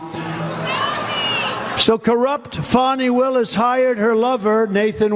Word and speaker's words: Fani: Now, even though I believe it's spelled F-A-N-I, to my way of thinking, that's Fanny. But once she became the district attorney, I think she put a little emphasis on the U. Fani.